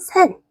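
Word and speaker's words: 千: 다시 한번 100은 샤크, 1000은 센, 만은 1만은 이치망.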